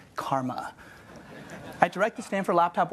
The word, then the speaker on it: CCRMA: By the way, that shortens to CCRMA and is pronounced Karma.